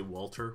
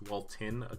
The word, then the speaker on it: Walton: by Walton Goggins III keep one and say Walter when I say his name but it's Walt in apparently Walton Goggins playing Sonny